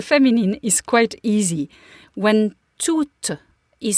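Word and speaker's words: tout: yes to yes so that final T although it is spelled t o u t T that final T is silent to to two Okay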